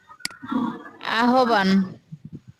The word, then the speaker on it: আহ্বান: প্রতিদার জন্য change change এটা এই শব্দটা কি আহ্বান এই শব্দটা কি আহ্বান আহ্বান আহ্বান হবে এক